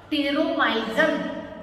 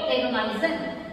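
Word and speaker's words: Petromyzon: P remains silent. How you will pronounce? Pteromyzen. Okay, pteromyzen.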